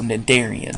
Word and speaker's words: Cnidarians: So I think we've mentioned this word in class, know that the C is silent, so Cnidarians.